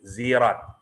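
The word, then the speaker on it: صراط: Jadi sirat pada asalnya, jadi sirat ini bisa dibaca sod, bisa dibaca sin, sirat, bisa dibaca zai, zirat.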